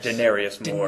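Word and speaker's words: Denarius Moore: rookie in in Oakland rookie demarius or daeni Denarius more Denarius yep you got to got to pronounce correctly U but no this is another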